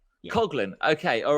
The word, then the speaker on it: Coughlin: Coughlin. Yeah. Coughlin.